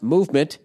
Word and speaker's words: MVMT: And clean, original designs, Movement, pronounced Movement, MVMT, grew into one of the fastest-growing watch brands, shipping to over 160 countries across the globe.